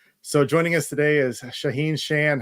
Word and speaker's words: Shaahin Cheyene: the same thing so joining us today is shaheen shan how are you shaheen yeah i'm doing great great pronunciation of my name you nailed it the